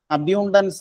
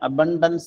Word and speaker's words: abundance: അബ്യൂണ്ടൻസ് അല്ല, അബണ്ടൻസ് എന്നാണ് ശരിക്കും ഉച്ചാരണം.